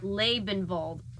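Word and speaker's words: Liebenwald: on it is called liebenvald the Wood of Life that's pronounced labanvald oh thank you narrator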